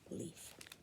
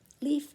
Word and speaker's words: Leif: fall might be pronounced leaf l-e-i-f some kids have and their name is l-e-i-f and they pronounce it leaf or leaf because they're leaves today i'll pronounce this leaf leaf and the fall by